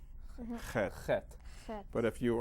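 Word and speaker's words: ח: Okay, now that's an unusual sound. Chet. Very important. It's a guttural sound.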